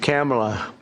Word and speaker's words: Kamala: It's Cam, right? Cam as opposed to Com.